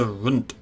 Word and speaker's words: Rand: The Aarde Se Rand. It's like runt, something like that. People said it's pronounced quite similar to runt, so I'm assuming it's a slightly softer T.